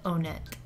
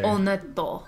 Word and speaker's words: Onett: So, technically it's supposed to be pronounced onet. Well, it's hard to say. Onetto. Yeah, that's how you say in Japanese.